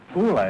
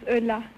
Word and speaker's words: Ulla: like to very much hula is that right is that how you pronounce it no my name is Ulla Ulla yeah French have a